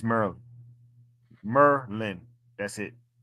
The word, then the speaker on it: Maryland: Maryland? Yeah. Not even It's Merlin. Merlin. That's it. Not D. Mer and Lynn. Merlin.